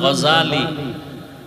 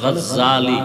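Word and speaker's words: غزالي: নাম হল ইমাম গাজাল। বলে গাজ্জালি না গাজালি বিশুদ্ধ উচ্চারণ গাজ্জালি না আর আল্লাহ যদি কবুল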